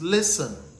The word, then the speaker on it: listen: Remember, it is not listen, it is listen. The T is silent.